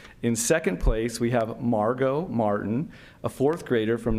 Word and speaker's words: Margot: In second place, we have Margot Martin, a fourth grader from North Ranch Elementary. And I appreciate Margot reminding me that the T in Margot is silent.